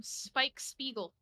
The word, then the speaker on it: Spike Spiegel: don't mind really oopsy Poopsy it's okay I'm Spike Spiegel is that how you say his name yeah